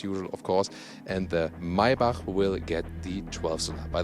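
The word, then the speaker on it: Maybach: of course and the maiba will get the 12th by the way yeah yeah you say my bach that's the german pronunciation not not my pack when you can pronounce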